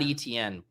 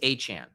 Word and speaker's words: Etienne: It's not Etienne. Stop calling me Etienne. This dude says that the correct way to pronounce his last name, that is spelled E T I E N N E, is Achane.